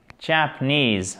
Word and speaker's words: Japanese: Faites bien attention, l'accentuation est ici. En fait, techniquement, on a un accent tonique puissant ici et on a un petit accent tonique ici. Mais un tout petit accent tonique. Japanese, ok? Parce que c'est un mot assez long.